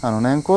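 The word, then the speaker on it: 年縞: れから、横島縦島の島と書いて年縞と読むんですが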